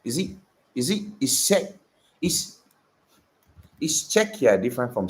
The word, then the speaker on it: Czech: Why do I keep on calling Z? I'm pronouncing it how it's spelled. It's Czech. I know it's Czech Republic. I don't know why I keep on saying Z.